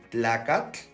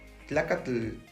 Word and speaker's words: tlacatl: Por lo regular, escucho la pronunciación de la siguiente manera. Tlacatl, Cihuatl, Popocatépetl. Ese sonido es incorrecto. Debe sonar más o menos así. Tlacatl, Cihuatl, Tepetl, Popocatépetl. Vean, la pronunciación no es tan exagerada.